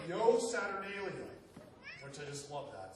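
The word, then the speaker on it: Io Saturnalia: and what we still celebrate to this day pronounced Yo saturnalium which I just love that since the word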